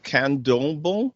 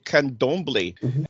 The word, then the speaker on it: Candomblé: So the next one, I can barely pronounce this one, Candomblé. I think it's Candomblé, but I could be wrong. Candomblé, okay, Candomblé.